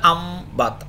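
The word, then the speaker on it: أَنْبَتَ: বা করবে, তাহলে আমবাতা, এখানে তো আসলে উচ্চারণটা হবে তো আম, মিম দিয়ে হবে যেহেতু নুনের উপরে সাকিন আসছে, তা আমবাতা সে কী বলা যায় উদ্গত করেছে, আর ইউমবিতু সে উদ্গত করে বা করবে।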